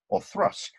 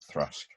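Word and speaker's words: Auchroisk: to difficulty to pronounce that would be orthrusk which is of course spelt a-u-c-h-r-o-i-s-k or thrusk indeed indeed um and then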